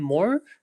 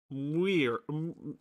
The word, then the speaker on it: Muir: You call him Moore? Muir. Muir. However you pronounce the name, that is John Muir. M-U-I-R. John Muir, right?